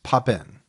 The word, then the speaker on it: Papin: we picked is the popin sisters yeah and I'm struggling with saying their name we've heard it a few ways heard it three or four different ways what we've settled on is pop in yes that's the way